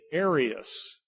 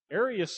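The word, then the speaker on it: Arius: r i u s you'll hear it put as the aryan aryan controversy okay the Aryans all right so it's the same person it's just just how they say it Aras and Aryan all right there were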